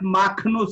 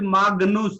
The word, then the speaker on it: Magnus: Jitendra, here it's not Magnus, it is Magnus because it is G followed by N, not followed by E or I.